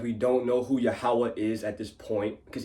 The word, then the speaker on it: Yahweh: You probably don't know how to pronounce it. Yahweh, that's how you pronounce it.